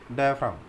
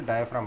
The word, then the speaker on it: diaphragm: डायफ्राम, DIAPHRAGM, वो जी नहीं बोलते, डायफ्राम बोलते हैं।